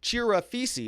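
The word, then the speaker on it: Chirafisi: along with corey chief farisi chira feces is how you say it and chiraphisi was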